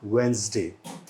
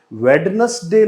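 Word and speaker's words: Wednesday: इसको बोला जाता है वेंसडे। वेडनेसडे नहीं बोलते, इसे बोलेंगे हम वेंसडे। तो वेंसडे कहाँ लिखा है? मतलब डी जो है, मतलब ड साउंड जो है वो यहाँ साइलेंट रहती है।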